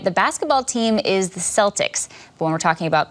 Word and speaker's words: Celtic: For years, English speakers pronounced this word with a soft C in all contexts.